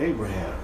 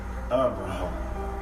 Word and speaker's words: Abraham: Abraham. You hear 3 syllables, don't you? Abraham.